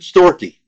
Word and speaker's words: storgē: Story.